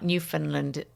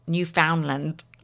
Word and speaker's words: Newfoundland: Well, there's a few places that I used to say wrong, like New Finland. New Foundland. Can't say Newfoundland.